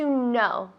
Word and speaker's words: know: Tiene una K, pero no se pronuncia. Es silenta. Silenta decimos. Silenciosa. Silenciosa, pues no sabía. Silenciosa. To know decimos. Que no, no. To know. To know.